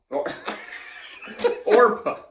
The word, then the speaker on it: Orpah: Orpah. Hard P, not an F. Hard P.